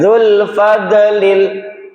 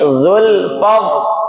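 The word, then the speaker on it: ذو الفضل: qalqalah bukan huruf qalqalah zulfad bukan dzul fadlil tapi zulfad zulfad ditahan dengan huruf dod masih ingat di mana makhrajnya Iya.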